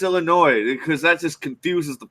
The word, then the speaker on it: Illinois: I go, "Yeah, it's Illinois." So I turned back to the don't bartender. do that. You don't do that. Yeah, you do. You don't tell him it's Illinois because that just confuses the fuck out of them, dude.